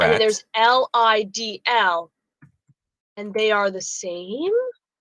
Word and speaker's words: Lidl: Okay, Angela Earls in the TV Co says, when I was a single mom, I shopped at Lidl all the time.